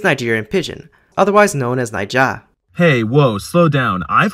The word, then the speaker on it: Naija: Naija is what it's called within the language, which also means Nigeria, but don't call it Naija with both syllables in the low tone because that means Niger.